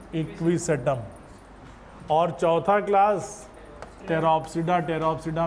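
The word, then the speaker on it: Pteropsida: है किसको टेरो, तो टेरोप्सिडा को टेरो। पी साइलेंट रहेगा, पटेरो नहीं बोलेंगे।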